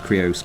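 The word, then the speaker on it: Qurious: But let's move on to the next section where we talk about the Krios Crafting. Now, the Krios Crafting, or Curious Crafting, depending on how you like to pronounce it, is an endgame activity, and these are endgame builds.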